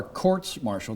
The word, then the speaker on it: courts martial: that so how are courts martial that's the correct way to pronounce a proactive marshal different